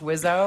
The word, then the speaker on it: WSO: Rio anymore it's the wizo uh weapons I wasn't I wasn't a big fan of his rap albums the the they call yeah wso but it's like pronounced wizo I guess I look